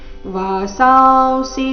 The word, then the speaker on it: ವಾಸಾಂಸಿ: ವಾಸಾಸಿ ಜೀರ್ಣಾನಿ ಯಥಾ ವಿಹಾಯ ನವಾನಿ ಗೃಹಣಾತಿ ನರೋಪರಾಣಿ ತಥಾ ಶರೀರಾಣಿ ವಿಹಾಯ ಜೀರ್ಣ ನ್ಯಾಯಾನಿ ಸೈಯಾತಿ ನವಾನಿ ದೇಹಿ ವಾಸಾಸಿ ಜೀರ್ಣಾನಿ ಯಥಾವಿಹ ವಾಸಾಂಸಿ ಅನುಸ್ವಾರದ ಉಚ್ಚಾರಣೆ ವ ರೀತಿ ಬರಬೇಕು ವಾಸಾಂಸಿ ಜೀರ್ಣ ಜೀರ್ಣ ಎರಡು